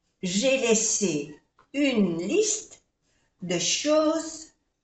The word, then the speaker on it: choses: J'ai laissé une liste, dejé una lista de choses, de cosas, à côté de, al lado de, la lampe, la lámpara. J'ai j'ai laissé une liste de choses. No se pronuncia la S, que está de plural. Chose.